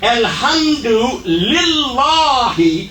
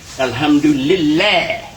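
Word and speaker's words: الحمد لله: Alhamdulillahi Rabbil Alameen. Same situation here. We have li before the syllable la, but we don't accept. This is, most people will say Alhamdulillah.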